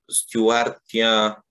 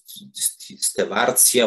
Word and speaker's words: Stewartia: Bo o ile tam Stewartia, czy Stewartia, bo tam różnie się to wymawia, pseudokamelia, to mnie nie dziwi, to jest rzeczywiście roślina dość wrażliwa.